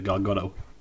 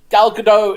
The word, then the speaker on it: Gal Gadot: a shot of Gal Gadot with, am I pronouncing that right, by the way? Gal Gadot?